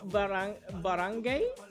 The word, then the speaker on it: barangay: Oddly enough, in the word barangay, the G is pronounced.